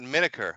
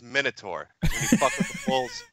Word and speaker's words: Metokur: name oh I apologize it's not it's not miniker I don't know where you guys are getting that it's Minotaur you get the horns you hear what I'm